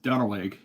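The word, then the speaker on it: Duenweg: it's looks like it's spelled Duna but it's pronounced dwig and it was a really nice town really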